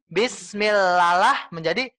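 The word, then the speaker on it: بِسْمِ اللَّهِ الرَّحْمَٰنِ الرَّحِيمِ: contohnya contoh Nia bukan bukan baca satu contoh Bismillahirrohmanirrohim seperti dua kali Bu untuknya dua hama sutanaya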